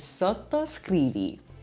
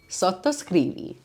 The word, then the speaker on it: sottoscrivi: Maybe the most important word I'll teach you today is sottoscrivi. Subscribe. If you enjoy my content and you want to know more about Italian cooking, make sure you're hitting the subscribe button down below. Sottoscrivi.